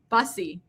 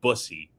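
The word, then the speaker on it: Bussi: Because Caroline for the longest time has always pronounced his name Brandon Busussy. And I'm like, that's not correct. That's not right. That's not how you pronounce it's Brandon Busy.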